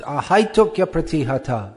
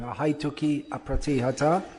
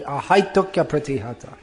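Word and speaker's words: ahaituky apratihatā: This third line is pronounced ahaitukya pratihata. It's one flowing sound, not stopping. Ahaituki apratihata. Not like that, it should be ahaitukya pratihata.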